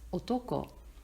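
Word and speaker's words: 男: woman with her legs crossed the male country pronounced Otto ko is an aerial view of a rice field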